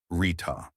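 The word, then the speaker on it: ṛta: Today's word is arta, pronounced rita.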